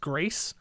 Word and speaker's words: Gris: you had concrete jungle grist kind words which is actually pronounced grease but everyone calls it